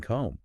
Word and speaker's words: comb: And then another example is the B and comb. Right. So that was actually spoken in middle English. Wow. And now it's not.